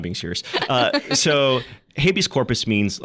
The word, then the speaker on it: habeas corpus: I remember the day I said habius corpus and people looked at me like, "Habius?" Like, isn't that how you say it? There's some things you got to mispronounce Anglicized Latin is apparently habeas corpus.